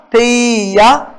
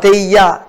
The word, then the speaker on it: தெய்யா: யா என்ற ஒலி யா என்றுதான் உச்சரிக்கப்பட வேண்டும், ஆனால் குறுகி ஒலிக்க வேண்டும். தெய்யா தெய்யா தெய்ய தெய்ய என்று சொல்லக்கூடாது, அது தவறு.